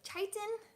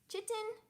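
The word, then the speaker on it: chitin: Um, meal worms are not recommended for chameleons though, just because of the level of I don't know how to pronounce it. Chaititan. Chitten.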